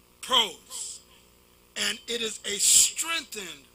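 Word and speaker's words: πρός: Some say pros, some say pros. Very few say pros, but that's not how it's said in the Greek. Pros.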